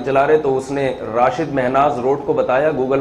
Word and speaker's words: راشد: ہمارے قومی ہیرو تھے، ان کے والد نے ان کا نام راشد رکھا تھا، رشید نہیں رکھا تھا۔ تو زبان کے اختلاف سے نا تھوڑا سا تلفظ میں فرق آ جاتا ہے۔ ایک ان کا مورخ